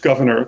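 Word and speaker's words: Gouverneur: It does not see people did not pronounce it in the French way. Gvenor, but um some some one of Morris's ancestors suggests it was just governor the way I've been saying it.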